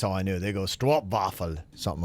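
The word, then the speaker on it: stroopwafel: was like a Str it looks like strw but it would be yeah they pronounce it Str waffle something like that Str waffle Str waffle yes so yeah so Stroop waffle would be how we say in the US so there you go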